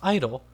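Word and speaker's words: idyll: I also figured out that it's pronounced idle.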